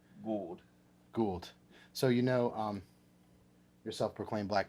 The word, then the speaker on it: Gould: It's Gould. Like, No, it's not good. It's like could. It's not good. It could be though. Yeah, it's spelled like could. Yeah. But it's pronounced Gould.